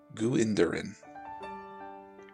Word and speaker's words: Gwendolyn: lillian ashley gwendolyn it's pronounced guinderin we'll just take